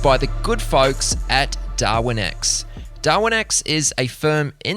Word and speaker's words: Darwinex: DarwinX is spelled DARWINEX.